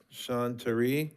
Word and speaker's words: Sean Terry: I may have butchered this. Sean Tari?